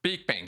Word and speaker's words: Beakbane: how do you pronounce your last name? Beakbane. Beakbane, good.